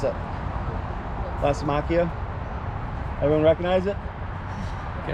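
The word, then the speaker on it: Lysimachia: creeping Jenny, but how's it pronounce it? Lacimachia.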